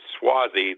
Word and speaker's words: Suozzi: And we have an approximation for his last name of Suozzi, that is S-U-O-Z-Z-I. There's a Swasey, S-W-A-S-E-Y, which is the closest phonetically, and that point is squaring Victoria, the other indicator of victory.